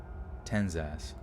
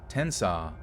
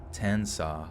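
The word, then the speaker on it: Tensas: his favorite thing wait ten's ass tenzis let's see oh tensaw i knew it dude 10 saw i knew it 10c ass bye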